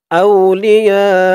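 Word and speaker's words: أولياء: আবার বলুন, লা ইয়াত্তাখিযিল মুমিনুনাল কাফিরিনা আউলিয়া, হামজা দিয়ে ওয়াও ধরবে, আউ, আউ, লি, ইয়া, ইয়া এখানে 4 আলিফ টান হবে, মধ্যে মুত্তাসিল।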